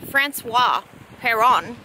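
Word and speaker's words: François Péron: have lunch this place francis francois peron is apparently how you say it or something similar to that he's actually named after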